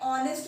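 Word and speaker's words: honest: रहा है ऑनेस्ट मैन, एच यहाँ पे साइलेंट है, साउंड आ रहा है ऑनेस्ट मैन, ओ का साउंड आ रहा है, ओ होता है आपका वॉवेल।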